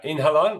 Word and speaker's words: Inhalon: You've just announced human challenge trials with Inhalon. Is that how we pronounce it? Yeah, Inhalon, yeah, absolutely.